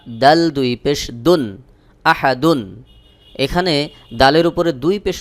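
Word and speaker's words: أحد: হলো কুল হু আল্লাহু আহাদ কুলহু আল্লাহু আহাদ এই আহাদ এখানে যদি আপনি একটু টেনে পড়েন তাহলে কিন্তু অর্থ পরিবর্তন হয়ে যাবে অনেকেই আহাদ এভাবে টান দিয়ে উচ্চারণ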